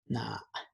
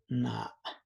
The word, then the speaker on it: na: So listen up, because you're gonna be seeing other words that spell the same, but it's gonna be pronounced differently. So for I or me, na. One more time, na.